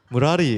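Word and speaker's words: 므라리: 아예 무라리 원래 이렇게 발음하는 거예요.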